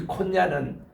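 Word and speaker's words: Konya: 오늘 터키의 현지 발음이 콘야입니다. 이 콘야는 바울의 전체 이렇게 그 전도한 도시인데 지금 가보면요 이슬람이 얼마나 강한지 몰라요.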